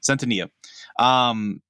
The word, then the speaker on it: Centineo: And I do think that while people give Noah, is it Cento, or how do you pronounce Centineo. it? Centineo.